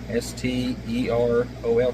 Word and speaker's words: sterol: Activated animal sterol. S-T-E-R-O-L. Sterol. Sounds like sterile.